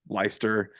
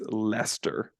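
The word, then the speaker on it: Leicester: like we did against leister oh yeah also we got destroyed in um our Tick Tock comments because UNR saying leister when it's Lester and everyone's use me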